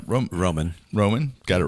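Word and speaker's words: Romijn: How do you pronounce it? Roman.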